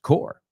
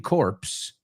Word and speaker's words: Corps: But that second word, as Chris pointed out, core, that p, that s is silent.